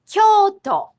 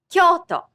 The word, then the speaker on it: Kyoto: The same doubled vowel for capital had already been used for 1,000 years in Kyoto. Kyoto. Kyoto.